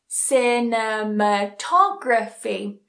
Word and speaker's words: cinematography: Cinematography. Cinematography. So again, it doesn't matter how many syllables are before it, it has one of those endings, so it follows this rule.